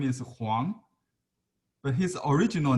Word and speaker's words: Huang: In Cantonese, the same, W-O-N-G, but in Mandarin it's Huang.